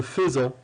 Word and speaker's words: faisons: Faire, je fais, tu fais, il, elle fait, nous faisons. Faites attention, pour le verbe faire à la première personne du pluriel au présent de l'indicatif, il s'écrit F-A-I, mais ça se lit feu, nous faisons.